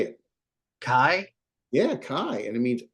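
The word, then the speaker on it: καί: there you go how would you say it Kai yeah Kai and it means and but also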